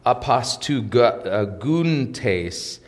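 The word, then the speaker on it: ἀποστυγοῦντες: it's a little bit of a mouthful um apostle guten tase is how it's pronounced in the greek and it's a participle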